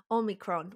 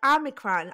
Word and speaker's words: omicron: i think i got omicron which i have to pronounce it like that because i'm greek you know like they're like omicron i'm like that's incorrect